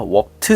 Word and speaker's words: WRPD: 소개할 신발은 발음이 좀 어렵습니다 뉴발란스의 wpd 그래서 워트 러너라고 읽더라고요 신발을 먼저 보여 드리면서 시작을 하도록 하겠습니다이